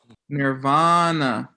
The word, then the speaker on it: nirvana: sanskrit look poof anatole taught me how to pronounce this word right in guadalajara nirvana it means blow out you just all of